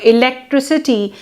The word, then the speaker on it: electricity: For example, in the word electric, when pronounced in isolation, the sound k, electric, comes in the final. But when the suffix ity is added, the resulting electricity is pronounced with s, electricity, and not with k.